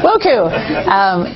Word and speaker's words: WOCCU: I'm on the spot, but it's WOCCU, World Council of Credit Unions. Yes. Woku.